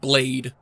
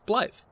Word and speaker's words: Blaidd: And I remember so many I remember seeing so many people pronounce it blade.